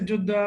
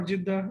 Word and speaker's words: Jeddah: Or they say Jeddah or Jeddah. It's like different pronunciations.